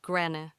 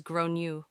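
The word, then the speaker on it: Gráinne: At this point, the alarm bells are ringing in my head because I've realized that the kid is called Grane, generally pronounced as Gronu, or thereabouts.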